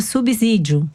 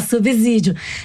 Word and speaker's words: subsídio: 69 em outros episódios vocês pronunciam equivocadamente a palavra subsídio com o segundo é se como o segundo é se não está entre os vogais o som não é dizer que eu